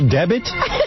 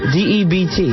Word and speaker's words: debt: A special debit? Debit? Spell the word. D-E-B-T. All right, now spell it out.